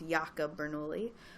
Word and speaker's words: Jacob Bernoulli: in the mid 1600s Jacob Bernoulli which it actually would have been pronounced yaka Bernoulli discovered its connection to